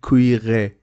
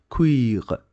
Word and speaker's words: cuire: And O at the end of the letter is not pronounced, so don't say cuire. Cuire is not correct. Cuire. Cuire. It is to cook.